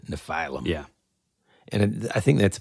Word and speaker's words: Nephilim: The funny part was in real time, because I would specifically say Nephilim, and then 2 seconds later, I would just do it wrong.